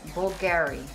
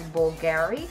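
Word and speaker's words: Bulgari: l yeah it's bul bulgary bulgary cuz it's like BV but it's actually a b u l g a r i so I'm guessing it's bulgary bulgary bulgary how do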